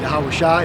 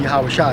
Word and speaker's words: Yahweh Shai: Yahweh Shai, that's how we say it. That's the proper way.